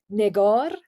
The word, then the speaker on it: Negar: And when I say negar, I Mm, have ne and I have gar.